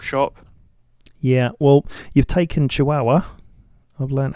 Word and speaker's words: Chihuahua: can still talk shop yeah well you've taken chihuahua i've learned how to say it yeah with